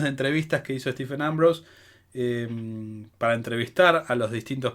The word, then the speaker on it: Ambrose: ambrose que es tu me fijé cómo se pronunciaba porque yo siempre decía ambrosio distintas variables nunca la correcta y bueno como les